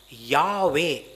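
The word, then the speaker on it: Yahweh: நாமம் என்ன அப்படின்னு கேட்டா ஜெகோவா இல்ல யெகோவான்னு சொல்லுவோம் இதை எபிரேய பாஷையில யாவே அப்படின்னு சொல்லுவாங்க இதை உச்சரிக்கிறதுக்கு கூட தயங்குவாங்க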